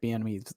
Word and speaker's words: Bieniemy: I can never say Eric Bieniemy's last.